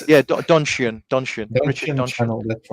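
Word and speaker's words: Donchian: How do you pronounce it? Yeah, donian.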